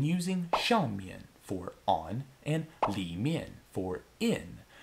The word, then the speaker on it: 里: A little note here, when using 上面 for on and 里面 for in, it's more common just to hear native speakers say 上 and 里, both pronounced with a neutral tone, like in 我的手机在桌子上, 我的手机在桌子上,